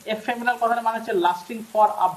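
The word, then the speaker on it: ephemeral: সেটা হচ্ছে আমরা এই সেন্টেন্সে ব্যবহার করি অ্যানিগম্যাটিক এফেমেরাল এফেমেরাল এফেমেরাল এটা উচ্চারণ এফেমেরাল কথা মানে হচ্ছে lasting for very short time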